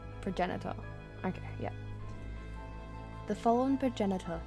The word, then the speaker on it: progenitor: What the Is that a hard G or a soft G?